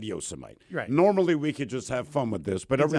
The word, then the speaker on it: Yosemite: I don't know uh the president just mispronounced the name of some place right like yosmite or whatever but you realize we're not going to talk about that because it won't be about the pronunciation it BEC political and everybody butcher you just don't like no dude look he said Yosemite normally we could just